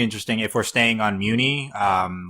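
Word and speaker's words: Mewni: see he has his cape already, and he says it's pronounced Muni.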